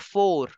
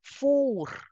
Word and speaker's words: four: in French as Laur don't pronounce it like English it is not four in French you pronounce it as for Laur for the oven